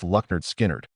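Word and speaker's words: Lynyrd Skynyrd: Leonard Skinnard, pronounced Lucknard Skinnard, released their debut album in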